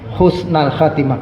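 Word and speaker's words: حسن الخاتمة: dalam bahasa Arab gitu jadi bunyinya kalau dia tunggal Isim itu Mufrad itu maka bacanya fathah husnal Khatimah kalau husnal Khatimah ini Kebetulan dia mudof mudof ilaih jadi husnalhatimah itu yang benar tapi kalau orang engak ngerti bahasa Arab bacausnul ba Insyaallah juga boleh atau dibenarkan baik yang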